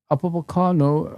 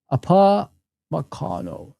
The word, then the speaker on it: Upamecano: Upamecano approves new deal at Bayern Munich.